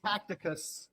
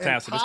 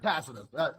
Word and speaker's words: Tacitus: So, while Gabriel is tacticus of the Roman Empire. Okay, so it's pronounced Tacitus. Tacitus says he was held as a prisoner. Tacitus.